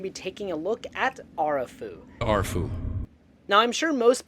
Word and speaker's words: Arefu: So if my Romanian pronunciation is okay, the proper pronunciation would be Arefu.